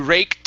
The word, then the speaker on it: raked: this is uh you raked up you raked up right right up right up yeah so it's going to be rake so you want to pronounce the k sound then the t raked rake rate good